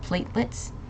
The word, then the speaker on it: platelets: last one but okay so there's a silent e at this uh over here so it's platelets okay platelet plets M